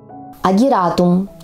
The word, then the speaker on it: агератум: Запомните ясколка яснотка агератум ударение в этом слове Ставим на гласную А в нашем климате Этот